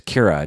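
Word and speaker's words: Qi'ra: How would you think it's spelled? Kira would be Kira, Kira. Right. I thought it's Kira. There's a Kira in Star Trek, and I think that's how they spell it in Star Trek. Anyway, it's spelled Q.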